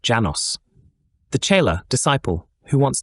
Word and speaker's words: Lanos: The name of this master is Lanos, pronounced Janos.